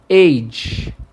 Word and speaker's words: H: Já da letra H é age.